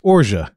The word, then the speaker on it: orgeat: I said orgeat. It's orgeat.